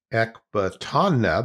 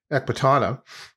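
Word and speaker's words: Ecbatana: Let's see if I can pronounce it right. Ekbatana, there we go. Ekbatana, well known in archaeological circles and Persian history books.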